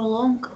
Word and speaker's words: long: I walked down on the sea and before long I was on the ship. Речка, long, вот читается вот так, смотри, дорогая. Вот. Long? Да, никакого г тут не звучит.